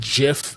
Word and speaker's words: GIF: pronounce I pronounce it GIF, but I'm not going to get into a fight about it. Hopefully that answers the question. Yeah, I know. I know. I know. The G is for graphics.